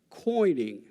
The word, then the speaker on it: quoining: There's another feature here also, which is called coining. That's spelled Quoining. And coining is the insertion of special blocks at the corners of structures in order to provide strength and stability.